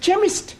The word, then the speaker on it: chemist: Ali yes please spell chemist oh blame me k e n chemist does not begin with a k it sounds like it begins with k CH but that is making it chemist no the CH is